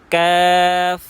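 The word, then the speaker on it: ق: তো জিহ্বার গোড়া থেকে একটু আগে বাড়িয়ে তার বরাবর উপরে তালুর সঙ্গে লাগিয়ে কাফ উচ্চারণ করতে হবে। জি উচ্চারণ করুন, কাফ কাফ।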